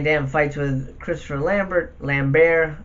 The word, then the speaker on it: Lambert: fights with Christopher Lambert lamb bear I think it's how you pronounce it lamb bear because he's French or can ain't no